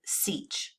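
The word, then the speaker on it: sech: reciprocal function hyperbolic secant we pronounced the hyperbolic secant seach so when you look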